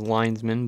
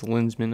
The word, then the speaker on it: Linsman: For some reason I always thought his last name was Linesman, but it's Linsman, I think. I think that's how it's pronounced.